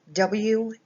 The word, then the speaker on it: walk: the letter I'm sorry in the word walk the W sounds like Oh the a actually sounds like an O sound more like an O sound it's law the L is a silent L so you don't even